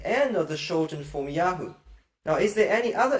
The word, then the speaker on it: Yah: Remember, in the short form Yah, when it's used as a name, or in the rare name Yedid Yah, there's a little dot inside the Hey, the mapik, and it shows this Hey is a guttural or consonantal Hey, not a vowel letter Hey.